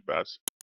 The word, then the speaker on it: BAS: I will be pronouncing it as a bass.